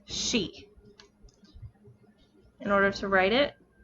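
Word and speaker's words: し: our next character is she s h i in romanized characters it is always pronounced with the sh sound the sh sound it is never just pronounced like c it is always she in order to write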